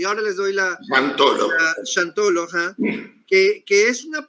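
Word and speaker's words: Xantolo: m al final y ahora chantolo que se escribe con x al principio x a n t o l o y se pronuncia con sh al principio chantol la diferencia del chantolo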